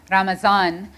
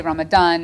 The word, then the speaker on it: Ramadan: I mean, some people say Ramazan, and others say Ramadan, and it just kind of depends on where you are even within the Muslim world.